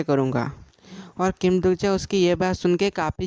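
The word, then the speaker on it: 김독자: बोलने लगता है अरे मेरा नाम किम दुजा नहीं बल्कि किम दुगजा है तुम मेरे नाम का गलत प्रोनाउंस कर रहे हो और आगे हम देख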